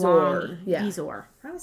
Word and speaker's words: bezoar: I think that line means Bezoar. long. Yeah. Bezoar.